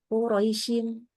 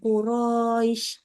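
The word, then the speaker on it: قريش: kalau kita berhenti ya maka kita baca menjadi Qurais Qurais yang dipanjangin bunyi i-nya ya bukan r-nya ya Jadi bukan Quraisy enggak gitu ya tapi Qurais nah itu mdin nah ada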